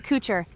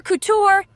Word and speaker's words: couture: Kitsune Warrior Cooer. Cute, fierce, and totally unstoppable. Would you wear any of my designs, big guy? Did you say cooer? Close enough, Ian. Kitsune warrior couture.